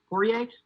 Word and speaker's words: Poirier: when he last fought pourier foie i keep pronouncing the r i took spanish in